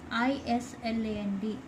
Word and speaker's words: island: Number 4, I-S-L-A-N-D, island. This S is silent, children. You can't say island. Island. I-land. By saying, while pronouncing island, S is silent.